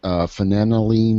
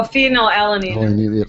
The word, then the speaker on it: phenylalanine: There's an issue with the I can't even pronounce it. Phenanyline or whatever. Oh, phenylalanine.